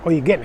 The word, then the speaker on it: Eugen: Bien, pues ese edificio lo hizo un conde de Württemberg llamado Karl de Eugen, Eugen exactamente. La I, la U en alemán se pronuncia como Oi.